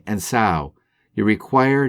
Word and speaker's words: Sau: As you do, rationally say Sau rhymes with Saw.